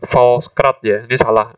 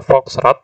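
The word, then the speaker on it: Volks: zaman kolonial Belanda nah ini bukan false beberapa orang termasuk saya pernah keliru membacanya jadi Fals Karena lidahnya yang betul adalah Fox dewan rakyat itu berasal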